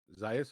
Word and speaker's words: Zayas: Zayas?